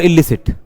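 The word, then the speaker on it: illicit: एलिसिट और इलिसिट। देखो एलिसिट और इलिसिट। तो दोनों का प्रोनाउंसिएशन ए और इ का डिफरेंस है।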